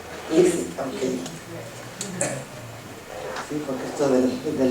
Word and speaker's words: Eileen: Is that the correct pronunciation of your name? Eileen, okay.